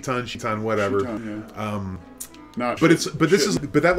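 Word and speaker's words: Citan: And it's spelled with a C because otherwise they would need to spell his name S-H-I-T-A-N.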